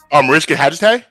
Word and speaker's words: Mariska Hargitay: Mariska, I think her name is. Mariska Hargitay? Yes.